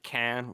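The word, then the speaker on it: Caen: few goals that weren't met the city of cannes which is spelled c-a-e-n um was not captured which was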